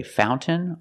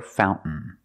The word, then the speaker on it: fountain: we celebrate fountain fountain you can say fountain or fountain both are fine and then I swim